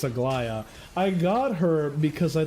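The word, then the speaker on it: Aglaea: Um, I got Agia because I loved her. I'm saying her name wrong. It's Aia.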